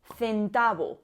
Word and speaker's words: centavo: Es el sonido que tenemos, por ejemplo, en cantaba o centavo.